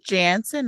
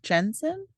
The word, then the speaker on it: Jansen: his first name so Jansen Jansen Not Jensen yeah it's j ANS o n oh oh yeah ours